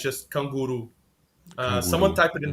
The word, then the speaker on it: canguru: So yeah, it's just kanguru.